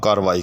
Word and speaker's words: کارروائی: انہوں نے اس کے خلاف کارروائی کی۔ اس کے خلاف کارروائی نہیں ہونی چاہیے، کارروائی بھی اتنی تاخیر اچھی